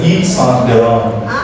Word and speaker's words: Yves Saint Laurent: So it's an Yves Saint Laurent. Saint Laurent. Yves Saint Laurent. French. So it's a French.